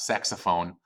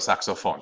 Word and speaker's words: saxofón: Not saxophone, pero el saxofón.